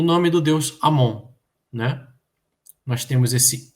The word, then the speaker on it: Amon: O nome do deus Amon, né? Nós temos esse I, esse é o som I, esse raminho de junco. Em vez de dizermos Imon, nós vamos falar Amon, tá bem?